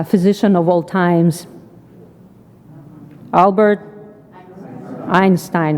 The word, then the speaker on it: Einstein: knowledge it's an original in German it is pronounced Einstein so should I now insists